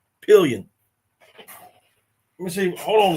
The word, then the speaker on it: Pillion: It ain't P-lion, y'all. It's Pillion.